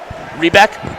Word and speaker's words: Rebek: That's Khalil Rebek. Is it Rebek or Rebeck? Rebeck? Thank you.